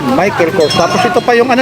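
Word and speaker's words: Michael Kors: Yan po yung pronunciation Michael Corse tapos ito pa yung ano niya strap niya.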